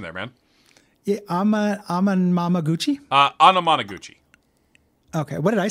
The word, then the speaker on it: Anamanaguchi: the soundtrack to the beat him up the am Mama Gucci uh soundtrack is good Gary uh real C+ pronunciation there man I'm amuchi uh Anamanaguchi okay what did I say amama m GUI